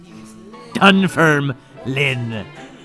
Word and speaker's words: Dunfermline: It's not Line, it's Lynn, like Jeff Lynn. Dunfermline."